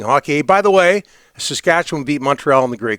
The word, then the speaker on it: Saskatchewan: How did you pronounce it? Saskatchewan. Not Saskatchewan. Yeah, I always thought it was Saskatchewan. No. You guys are saying Saskatchewan. Saskatchewan. Yeah. Almost like it's W-I-N.